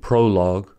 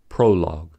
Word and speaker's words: prologue: words like colleague and prologue are two syllable words as the ending u e is silent this is why league